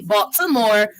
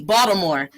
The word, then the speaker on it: Baltimore: bought with a t bought some more no one from baltimore pronounces it as box some more they pronounce it with a d baltimore and so that's an